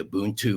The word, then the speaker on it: Ubuntu: He's the founder of the Ubuntu mission. I think I pronounced that right.